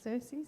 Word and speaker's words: Xerxes: Xerxes, yeah.